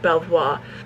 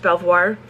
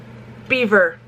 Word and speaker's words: Belvoir: this is not pronounced Belvoir Farms, because the Brits never pronounce French spelled words, like words with more of a French spelling. They never pronounce it the way the French would spell it. Beaver Farms.